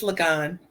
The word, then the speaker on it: Liggon: Did I pronounce that right, Donna? It's Liggon.